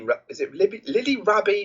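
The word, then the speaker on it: Rabe: And it stars Ben Affleck, Ty Sheridan, Daniel Ranieri, Lily Rabi or Lily Rab? I am not sure. I'm gonna say Rab. You don't pronounce the E, but Christopher Lloyd and Max Martini.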